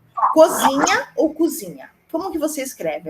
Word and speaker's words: cozinha: Cozinha ou cozinha? Como que você escreve? É com O ou com U? Com O. Então, ela é com O e a pronúncia tem que ser com O.